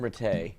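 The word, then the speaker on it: Rattay: And Tim Ratty's headset. Tim Rate. Tim Rate.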